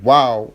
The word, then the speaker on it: Waw: It is probable that the original pronunciation of the letter was with a W.